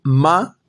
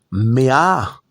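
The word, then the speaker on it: מאה: y Malhud es llamado ma que, es decir, ma requiere de yud vafge su Elohim de ustedes. Así dice. Pero dice, "No lo pronuncies ma, sino pronuncia mea, que significa 100.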